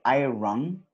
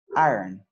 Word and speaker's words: iron: So we have iron, but we pronounce it, we don't say iron. That's incorrect. We kind of say like the R is very, very soft and very quick. So it's more like iron, iron, cook, drink, skip, go, dress, pay, and play.